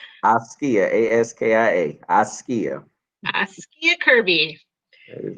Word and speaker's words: Askia: Kirby to pronounce his first name. Mr. Kirby? It is Askia. Askia, A-S-K-I-A.